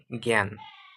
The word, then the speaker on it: জ্ঞান: মত উচ্চারণ হচ্ছে কিন্তু যদি অঙ্গ গ থাকে বর্গ জৈন থাকে তাহলে কি হবে জ্ঞান জ্ঞান ঠিক আছে এখানে আকারের উচ্চারণ কেমন হচ্ছে এ এর মত হচ্ছে তার জ্ঞাত এ এর